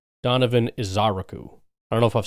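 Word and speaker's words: Ezeiruaku: into Ezaraku, but uh, looking at it phonetically, the uh, emphasis seems to be put on the aku.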